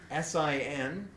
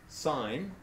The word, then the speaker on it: sin: ratios s of a a which is abbreviated SI n but is pronounced sign okay it's the length of the side opposite